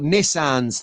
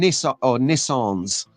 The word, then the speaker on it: Nissan: Apparently, we found out on Thursday that we've got Nissans to drive. We're driving Nissans in the American pronunciation. A Nissan. It sounds weird. Nissan. There you go. Or if you're from the Northwest, it's a Nissan.